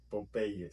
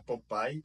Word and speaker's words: Popeye: Um que eu achei interessante é o Popeye, porque a gente escreve ele igual, porém a gente pronuncia do jeito espanhol. Então, todo mundo conhece como Popeye. Popeye. Se você falar Popeye para qualquer pessoa que